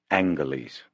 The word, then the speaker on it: Angeles: She said Angeles with a hard G.